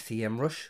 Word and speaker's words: SEMrush: and Community manager at sem rush or sem Rush depending on how you pronounce it she loves wine she's